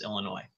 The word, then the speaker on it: Illinois: us how to pronounce Illinois I I don't know how many times I had elementary school teachers say there is no noise in Illinois well I generally mispronounce